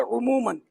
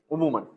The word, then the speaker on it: عموماً: میں نے کئی بار سن چکا ہوں یہ لفظ, تو اس کا تلفظ ہے عموماً. عموماً.